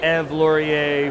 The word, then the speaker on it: Ève Laurier: Milkin Global Conference with E Laurier from Bombardier. Great to see you. Nice to see you. Thanks. You're pronouncing my name so well. You sound so French.